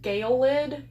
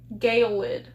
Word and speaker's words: gelid: It's pronounced Galid. Galid. That's similar enough to what I said.